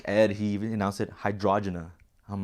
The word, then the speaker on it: Hydrajenah: he even announced it hydrogena I'm like that's not wrong that's like I I never really thought about pronouncing it but hydrogena that's how you're supposed to say it but I say Jenna